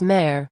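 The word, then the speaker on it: mère: if you learn that the egrave in french is mare mother sounds like a you've built one connection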